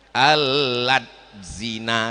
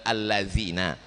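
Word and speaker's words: الذين: Alad zina katanya, padahal allazina, karena tak pandai dia mengaji.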